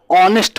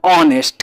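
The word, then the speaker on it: honest: तो यहां पे हॉनेस्ट है ना, इसको हिंदी में ऑनेस्ट पढ़ा जाता है। क्या पढ़ा जाता है, ऑनेस्ट, क्योंकि यहां पे एच जो होता है वो साइलेंट होता है।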